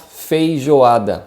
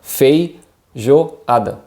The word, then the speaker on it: feijoada: farofa so it's pronounced feijoada fei joe ada and as you notice jay has a different sound in the portuguese language so feijoada feijoada is